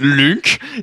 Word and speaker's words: Lunk: Oui, Lunk. qui est ça se prononce Link du coup aussi.